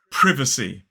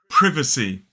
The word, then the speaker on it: privacy: You would say privacy. Privacy. 3 syllables, the stress is on the first syllable.